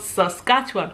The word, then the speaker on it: Saskatchewan: name of the province it is called Saskatchewan and not that in that those of you who have so good to call it I don't know if you get those names from what it's called Saskatchewan pronounce it correctly okay but thank you